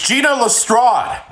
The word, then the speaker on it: Gina Lestrade: if I get this name wrong, scream at me in the comments. Several hours later. It's Gina Lestrade.